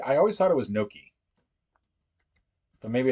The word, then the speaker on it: gnocchi: okay all right so Naki is an acceptable pronunciation in gnocchi which just feels wrong uh order takeout charade